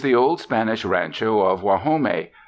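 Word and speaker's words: Guajome: old Spanish Rancho of wome they pronounce it wahome and it means the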